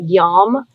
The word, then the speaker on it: yam: for the heart chakra is yam y-a-m but pronounced more like yawn yama make sure to